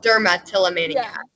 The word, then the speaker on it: dermatillomania: there's a blessing so it's the same suffix as trichotillomania it's just called dermatillomania so when in doubt